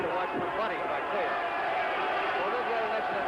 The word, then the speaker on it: Cuello: In Argentina, they pronounce the name Cuello, Miguel Cuello.